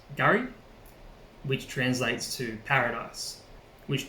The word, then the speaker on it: K'gari: name of fraser island to its patroller name pronounced gary which translates to paradise which derives from the